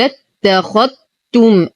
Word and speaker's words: اتخذتم: قل اتخذتم. الذال لا تنطق فهي ساكنة وتدخل دخولا كاملا في التاء، وهذا سبب تشديد التاء.